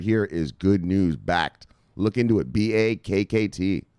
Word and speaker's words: Backed: has already announced its first investment in backed pronounced backed the massive project developed by all in this